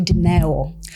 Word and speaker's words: Doro: Well, my name is my name is actually Doro. Oh, really? That's how you pronounce it, but most people call me DO, so it's absolutely fine.